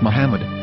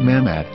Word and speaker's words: מחמד: According to Ben Yehuda's Hebrew English Dictionary, it is correctly pronounced as Muhammad, not Mamad.